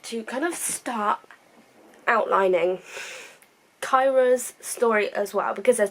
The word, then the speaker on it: Kaira: It's kind of like, so Kyra, which is spelled Kaira, Emilee's older sister, something